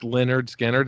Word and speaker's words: Lynyrd Skynyrd: It's pronounced Lynyrd Skynyrd.